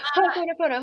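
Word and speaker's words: Hoʻoponopono: Hopon, how do I pronounce? Ho ponop pono. Okay, say that three times fast. No, I'm just kidding. Ho pono pono.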